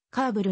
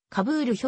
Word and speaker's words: カーブル: 停車はとなる発音は何の言語でもカーブルに近いますしかしながら日本においては報道関係者の不注意が聞き間違えからカブール表記が広まった日本